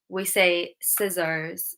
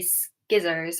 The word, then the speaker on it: scissors: This C is silent. We don't say skizzers, although when I was